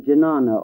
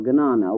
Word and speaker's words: jnana: Some the path of jnana or gnana, whichever pronunciation is preferred, which is the way of wisdom.